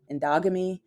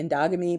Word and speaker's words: endogamy: And then finally, there's endogamy, meaning that there's in group marriage. People also pronounce it as endogamy. Either way, usually I say endogamy, but I got caught off guard, I guess, this time.